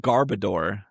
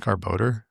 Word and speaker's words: Garbodor: But I remember I remember always saying Garbodor back when that came out because I didn't realize just the final word is just odor.